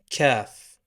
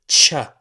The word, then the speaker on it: كاف: In this video, we're gonna talk about the K of the Arabic alphabet, Kaf. Pronounced Ka, like the letter K in English, exactly, Ka. Now in slang, in some accents, it's pronounced Cha, like the C and H in child.